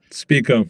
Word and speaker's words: Spico: Mike, how is it pronounced? Spico. You got it right the first time.